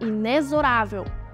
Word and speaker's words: inexorável: às súplicas no entanto lê-se a palavra com o som di Z sendo inexorável assim Como exonerar exorcizar e